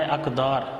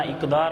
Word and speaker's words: اقدار: قدر کی جمع ہے اقدار، تلفظ کا خیال کرنا، اقدار نہیں پڑھنا، اقدار۔ جب جتنی بھی جمع